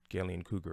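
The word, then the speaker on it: Gallien-Krueger: to own a GK I believe it's Gillian cougar is how it's pronounced 410 410 cab that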